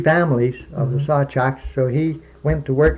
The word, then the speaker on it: Sawczuk: Well, we were all Sawchuks. Sawchuk. That's the proper way to say it.